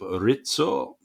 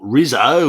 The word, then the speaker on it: Rizzo: Thank you for your pronunciation, your Italian pronunciation of Rizzo. Bravo. Not Rizzo, as we'd say in Australia.